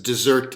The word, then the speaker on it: dessert: notion of dessert dessert this is dessert in the sense that it's spelled like desert the geographic area but pronounce like the course that one has after the main meal the sweet course dessert that is to